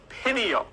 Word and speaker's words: pineal: of your brain called the pineal gland it's pronounced pineal okay and the pineal gland produces melatonin when